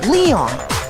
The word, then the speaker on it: Leon: Or more accurately, Leon. Oh, Leon. It's pronounced Leon in English, I forgot.